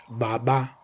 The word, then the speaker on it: baba: So once again, that word Baba for father. Remember, I said you act like you are sucking or drawing air into your lungs through your mouth and go something like a b b b b b.